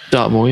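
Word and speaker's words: Dartmoor: I think it's Dart is it do I pronounce it correctly dartmore yeah it was a it was a bloke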